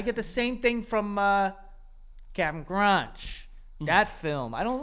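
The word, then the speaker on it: Cap'n Crunch: Bro, by the way, can we like It's Captain Crunch. I know it says Cap in Crunch. Oh. But who's pronouncing it? Nobody.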